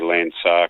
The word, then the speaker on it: LandSAR: a little page and I say Lancer because it's here it's spelt if you go to look it up on the Internet which is land and the SAR which obviously students balloon